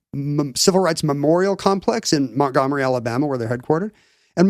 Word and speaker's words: Montgomery: It's like when maybe, we probably don't pronounce the T. Yeah, Montgomery.